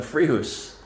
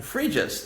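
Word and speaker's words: Fréjus: to finish up the free house the fridges the free house someone corrected me and that's that's what they said the correct pronunciation was let me know if you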